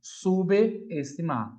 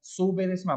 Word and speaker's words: subestimar: O correto é assim, ó, subestimar, bom? Então, subestimar, por mais que a gente queira falar subestimar, se esse na frente desse sub vem uma vogal, junto com a vogal, tá bom?